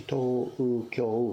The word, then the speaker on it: Tokyo: It's actually Tokyo, 4 syllables.